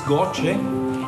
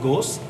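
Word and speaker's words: GOCE: the next satellite is goche we call it goche using the Italian pronunciation but somebody pronounce it ghost and uh this is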